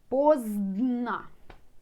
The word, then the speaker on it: поздно: Early can be rано, late поздно. So difficult to pronounce 2 letters together. Zdn. Поздно.